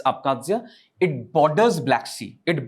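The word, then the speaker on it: Abkhazia: the left hand side you have akadzia it's pronounced as akadzia right it's akadzia it borders black sea it borders black sea and This issue was in the year 2008.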